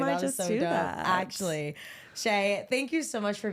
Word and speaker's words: Shae: Tik Tok at sharei Shay and that's my name is spelled s Hae so you can find